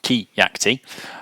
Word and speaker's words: Keacte: so who am I my name is Kaki it's pronounced ke yakti uh I'm the CEO